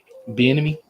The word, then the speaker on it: Bieniemy: or Salah, or I can't remember how to pronounce his name. Bieniemy?